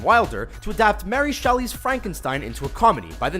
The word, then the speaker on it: Frankenstein: comedy legend gene Wilder to adapt Mary Shelley's Frankenstein Ainsworth comedy by the name of Young Frankenstein it's pronounced frank enstein film is considered by anyone